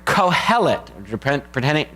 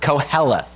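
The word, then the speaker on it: קהלת: So the Hebrew word that's translated as preacher there in the very first verse is the Hebrew word kohelet, depending on how you pronounce it, koheleth.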